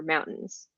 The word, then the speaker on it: mountain: Like, for example, a really good example is, Colorado's famous for mountains. Hmm. Most people pronounce it mountain, but we Okay. pronounce it mountain. We just completely remove the T.